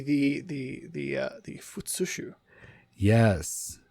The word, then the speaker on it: futsushu: would this be the the the uh the fushu yes fushu all right I was concerned for a moment that I didn't pronounce that right but I'm glad I got